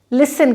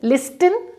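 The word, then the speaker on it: listen: शब्द के अंत में यदि TEN है तो T सॉफ्ट हो जाएगा और इसको हम लिसन कहेंगे। लिसन टू me class, लिसन टू मी, क्योंकि मैं पढ़ा रही हूँ तो प्लीज़ सुनो और समझो, राइट। लिसन, लिस्टन नहीं, राइट।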